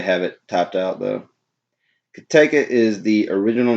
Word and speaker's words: Cotaco: Pronounced Cotaco. It's funny how they have it typed out though. Cotaco is the original name of Morgan County where our brewery is located.